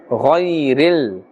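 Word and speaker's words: غَيْرِ: Ghain is part of the Huruf Musta'aliyah, Therefore, we are pronouncing it with a fuller mouth. Ghayril. We are not pulling here because ya sakin has a fatha before it, and therefore this is ya leen.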